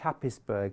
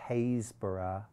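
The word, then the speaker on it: Happisburgh: you're not going to catch me out there it's spelt h-a-p-p-i-s b-u-r-g-h happisberg but i lived in norfolk and i know it's pronounced hazeborough that's just to check whether you're a local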